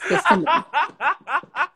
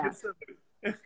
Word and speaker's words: Gethsemane: Yes, Gethsemane. See, I'm learning too. The best. But yeah, see, actually, you would think it's spelled how I said it, but yes, you're right.